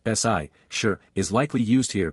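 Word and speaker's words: 四: Note, although for in Chinese is pronounced SI, sure is likely used here because SI does not sound as good.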